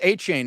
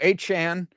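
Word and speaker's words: Achane: changed how it's pronounced it's not pronounced a chain anymore it's now a Chan so and you know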